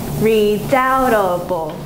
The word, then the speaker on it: redoubtable: Okay, so it's redoubtable. Redoubtable. Marshall. Marshall. Over. Oh wait, I didn't have you guys tell me. Okay, redoubtable. Madeline. Redoubtable. There are four syllables and an accent goes on the second.